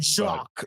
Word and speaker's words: Jean-Jacques: I'm gonna guess it's Jacques is probably how you pronounce that. Jacques, there you go. Yeah, he's Haitian, and so it's probably a French pronunciation.